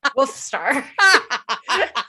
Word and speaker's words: Wolfstar: Oh, for everyone out there who can't see Chris, making them pronounce the L in wolf.